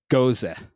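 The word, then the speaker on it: Gose: Uh today I'm actually drinking a guava lime goza. And that's that's how you pronounce it.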